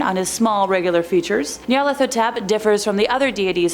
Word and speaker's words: Nyarlathotep: Number 5, Nyarlathotep. A super fun one to pronounce, I promise, I looked it up.